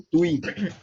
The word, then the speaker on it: gratuito: E o gratuito seria o TUI. Porque é um ditongo.